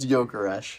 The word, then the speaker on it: Gyökeres: You mean Goikers? I have literally never heard it pronounced that way. Gyökeres? It is. I've only seen it written. It is pronounced Gyökeres.